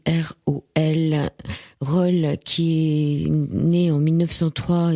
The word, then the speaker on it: Rol: Une émission au-delà du miroir ce soir par téléphone avec Marc Gallieux qui va nous parler de Roll, ça s'écrit R-O-L, Roll qui est né en 1903 et qui nous